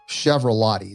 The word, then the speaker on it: Chiaravallotti: let's get started by first of all nelson chevrolet did i pronounce that last name correctly yes you did